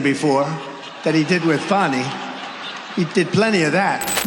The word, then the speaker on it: Fani: even though it's spelled Fanny, F-A-N-I, Fani.